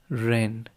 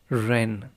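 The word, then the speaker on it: 仁: And although we romanize this word in English as jen, it is pronounced ren with a sort of rolling ar ren.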